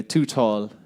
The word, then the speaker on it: Tootawl: kind um I should say by the way to tall is my name and that's spelled t o o t a WL t